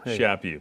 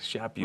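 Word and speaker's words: Chaput: man named archbishop charles shapi i never heard him which by the way is pronounced like slap you slap you shape you people don't get that people always like like shape you right okay go ahead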